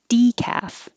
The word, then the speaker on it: decaf: slipped slip sleep decaf we start with the d as the stressed syllable decaf paper pay your tongue